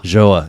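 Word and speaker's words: João: Joa.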